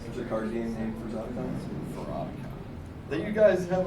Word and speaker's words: Furpocolypse: Now that I know how to say it, it's Furpocolypse.